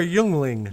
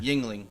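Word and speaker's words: Yuengling: Yingling or Youngling? Yingling. But it's spelled Y-U-E.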